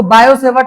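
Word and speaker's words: Biot-Savart: बायोसेवर्ट लॉ जो है इसमें वो बी आई ओ टी लिखा रहता है ना ये वो टी साइलेंट होता है क्लियर तो इसको बायोसेवर्ट लॉ बोला जाता है बायोसेवर्ट लॉ जो है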